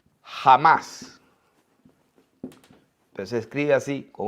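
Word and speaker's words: חָמָס: Y esta palabra, violencia, es la palabra hebrea número, miren, la 2555, que se pronuncia jamás.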